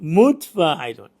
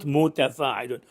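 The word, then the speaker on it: مُتْفَاعِلُن: to pronounce this one, we pronounce it mutfa'ilun, not muta, mutfa'ilun, and this is allowed in Arabic prosody. So maybe you have your first foot in particular, you say mutfa'ilun, not mutafa'ilun.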